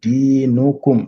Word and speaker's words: دينكم: Lakum dinukum. Donc là, il faut bien prononcer le dal. Di, c'est deux temps.